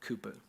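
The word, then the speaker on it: Cowper: by a guy named William Cooper I know it looks like cowput I promise that's how you spell it um William Cooper he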